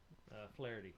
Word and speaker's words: Flaherty: And how did they pronounce Mike's last name? Flaherty.